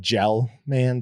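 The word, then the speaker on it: Gell-Mann: no nobody nobody sorry that's gal man i think it's spelled gel man but it's gelman amnesia effect um that's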